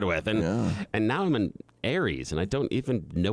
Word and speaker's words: Aries: And now I'm an Aries, and I don't even know what that is. I don't even know. It rhymes with fairies.